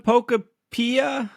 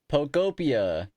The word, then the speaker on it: Pokopia: Pokemon Pokopia. How you say it, Clau? Pokopia.